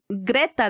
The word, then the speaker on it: Greta: It was strategic to have Gret Greta, that's how you say her name.